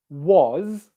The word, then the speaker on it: was: it's new for you start by just practicing these words here his is has was and make sure that you're able to pronounce a z sound z sound after the vowels okay um does that